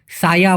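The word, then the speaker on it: saya: দিয়ে যেটা বলে, বলে সাই এই কোট কে, বলে সাই এই কোট কে, হয়তো আরও অনেকে দূরত্ব বলে বলে সাই কে, কিন্তু মূলত সঠিক উচ্চারণটা এরকম হবে সায়া বলে ই কোট কে।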